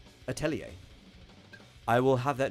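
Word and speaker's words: Atelier: I don't know it's let me look how to pronounce yeah it is a you're correct it's a French ter it's a yeah that's how I always pronounce all right atellier I will have that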